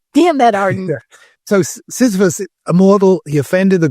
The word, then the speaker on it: Sisyphus: I said the wrong word. I was doing a sexually transmitted disease, syphilis, but it is correct to pronounce what? Yeah, Sisyphus.